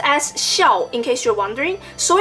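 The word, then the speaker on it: 孝: movie and connects the whole entire storyline it's pronounced as show in case you're wondering so in the movie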